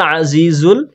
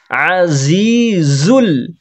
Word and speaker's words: العزيز: না, ওয়া, ওয়াল, ওয়াহুয়াল আজিজুল, আইনে হবে টান, টান হবে না, গলার মাঝখান থেকে হালকা চেপে বলতে হবে, তাহলে আইনের উচ্চারণ হবে, না হলে হামজা হয়ে যাবে।